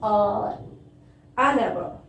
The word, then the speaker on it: hour: Last one, an hour. See here, H is consonant, but here H is silent.